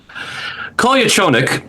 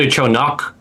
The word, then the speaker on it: Kolyachonok: Kolia Chonik. Uh, and that's not great pronunciation either. I think it's called your chonak, but it's it's difficult. It's legitimately difficult.